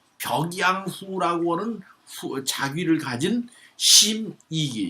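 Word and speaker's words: 審食其: 이 벽양후라고 하는 자귀를 가진 심이기, 이가 심식기라고 그러는데 이게 요 이름 부를 때는 이자로 발음합니다. 이 식자를.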